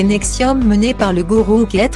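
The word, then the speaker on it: NXIVM: la secte sexuelle et nikci vm prononcé nexium menée par le gourou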